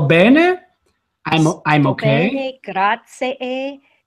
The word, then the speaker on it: grazie: Grazie. And you say the first one a little bit louder. You put the emphasis on that first syllable.